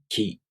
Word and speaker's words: き: In this case, you move your tongue a little forward for ki. Ki. Ki. Ki. With that in mind, let's try again. Repeat with me. Ka, ki, ku, ke, ko.